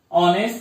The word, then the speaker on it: honest: H is silent here. We pronounce like O, not H.